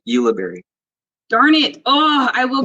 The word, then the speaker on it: Ulibarri: staff sergeant did i pronounce that right oh okay tell me how do you pronounce your last name because i'm i'm just keep messing it up no worries it's uh yuliberry darn it oh i